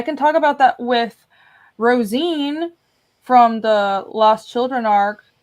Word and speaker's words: Rosine: I can talk about that with Rosine from the Lost Children arc, but I can't show her. It's pronounced Roseanne. It's Rosine.